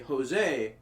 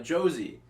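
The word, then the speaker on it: José: um elementary school was when i called a jose a josie because i didn't know about the oh you know how the pronunciation works no and then he's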